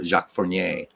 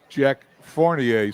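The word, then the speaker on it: Jacques Fournier: some color here for jacqu forier well I'm glad the way you say it because I say it Jack fornier so I'm obviously am saying it wrong anyway he's the fifth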